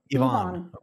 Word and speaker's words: Yvonne: we are talking to the one and only yvonne and actually how do you how do you accurately say your first name yvonne yvonne yeah okay because i speak i speak spanish